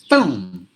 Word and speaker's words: film: TV shows or something they tend to say this word is film film adding an extra sound which is not there at all so it should be film film as it is as it is spelled and some of the